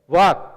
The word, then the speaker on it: walk: यहाँ यल साइलेंट हो जाता है, यल का लोप हो जाता है, यल गायब हो जाता है और केवल हम वाक WAK को ही उच्चारित करते हैं।